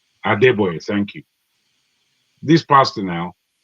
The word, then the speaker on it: Adebayo: I forget how you pronounce his name. Adebayo. Adebayo, thank you.